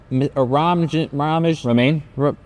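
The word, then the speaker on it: Romijn: It's spelled weird. Yeah. It's not spelled. She used to be Rebecca Romaine Stamos because she was married to John. It's not spelled like the lettuce.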